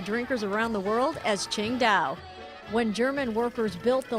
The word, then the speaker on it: Qingdao: it's pronounced the same way the city is pronounced Ching da the original Ching da Brewery has been completely